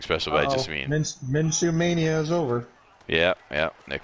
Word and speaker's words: Minshew: Whoa, Gardner Minshew, is that how you say it? Minshew.